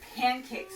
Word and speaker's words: pancakes: All right, then we have our word pancakes. Let's go ahead and spell pancakes. P-A-N-C-A-K. Oh, P-A-N-C-A-K-E-S. Pancakes is actually a silent E word. It has the E here, making that A say its name.